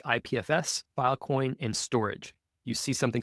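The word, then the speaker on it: Storj: different files networks like ipfs file coin and storage you see something spelled St o RJ right there it's pronounced storage so this you could go through that story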